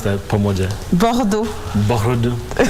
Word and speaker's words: Bordeaux: Uh Jin Bosia I was born in France in Bordeaux. Uh it's southwest of France. Let's try to pronounce that pomoda. Bordo bordo.